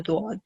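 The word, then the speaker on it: ضاد: And other than that, there's a particular sound that you make for letter Dawad. So whenever you're pronouncing letter Dawad, your tongue should roll and it should touch the sides of your tongue should touch the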